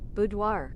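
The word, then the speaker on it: boudoir: I need or maybe that might not be how that's pronounced. Budoir.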